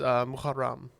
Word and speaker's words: Muharram: The name of the first month is Muharram.